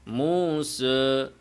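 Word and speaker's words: موسى: এতটুকু না খোলা যেমন মুস অনেকে এভাবে বলে মুখ কি করে না খোলে না খুলে বলতে হবে মুসা বলেন মুসা এই যে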